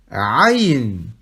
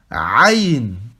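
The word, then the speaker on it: ع: Aïn. Donc ici, le son, il vient de la gorge. Aïn. Aïn.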